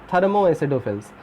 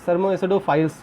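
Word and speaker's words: thermoacidophiles: Now come to the next, थर्मो एसिडोफिल्स। अब देखो थर्मो एसिडोफिल्स का मतलब यहाँ थर्मो एसिडोफाइल्स सॉरी प्रोनाउंस करते हैं।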